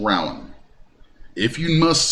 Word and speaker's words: Rowan: So yes, this is correct pronunciation, is Rowan, not Rowan. This is Kentucky. The county is called Rowan.